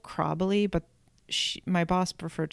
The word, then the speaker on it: Chräbeli: Um So, she made her Swiss grandmother's recipe for Kräbeli. Um And I'm going to spell that for you. c h r a with an umlaut b e l i. So, they're called Kräbeli, but sh- my boss referred to them as